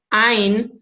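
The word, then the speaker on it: עין: But in modern Hebrew, you pronounce it like an aleph.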